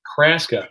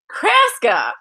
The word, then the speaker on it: Kraska: Kraska, like Alaska, Nebraska. Kraska.